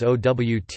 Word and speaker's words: owt: in the dialectal words OWT and nout from ought and not, pronounced like out and nout, meaning anything and nothing.